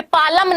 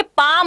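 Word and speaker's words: palm: ये पालम नहीं है, ये पाम होता है। एल यहां पर साइलेंट है, मैं आपको बता देती हूं।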